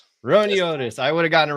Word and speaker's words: Roiniotis: Ron Otis. Ron Otis.